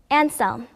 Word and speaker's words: Anselm: 발음은 영어로 Anselm, 라틴어는 Anselmus, 이태리, 스페인, 포르투갈어는 안셀모, 그리고 핀란드어로는 안셀미라고 하며 한국에서는 안셀모라고 합니다.